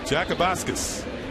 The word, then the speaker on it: Jakubauskas: Jakubauskas deals a strike to Granderson.